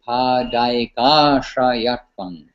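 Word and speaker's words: पदैकाश्रयत्वम्: When it's Padaika Ashrayatvam, the A is all rolled together. So it's actually Padaika Ashrayatvam.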